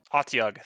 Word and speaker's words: Otyug: Otyug. Thank you. Otyug.